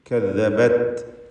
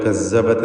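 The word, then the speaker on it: كذبت: കദ്ദബത്, ദാലിൻ്റെ ഉച്ചാരണം ശ്രദ്ധിക്കണം. ദസ്സ പോലെ കസ്സബത്ത് എന്നായി പോയത്.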